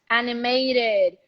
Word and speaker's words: animated: animated feature yes so i want to hear that animated calculated all right don't eat that last syllable okay can you go